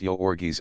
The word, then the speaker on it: Jurgis: and the giant hands one pronounced yorgi Ono was blue-eyed and